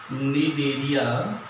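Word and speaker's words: Cnidaria: इस कारण से इस या इसे निडेरिया भी कहा जाता है, निडेरिया, NIDARIA, सी साइलेंट रहता है इसमें, निडेरिया कहा जाता है।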